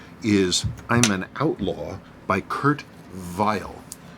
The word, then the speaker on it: Kurt Vile: i'm an outlaw by kurt vile pronounce the german way like the conductor the musician the composer kurt file but it was americanized